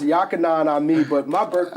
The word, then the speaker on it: YahkhahnahnAmmi: So it's pronounced YahkhahnahNAmmi, but my birth name is.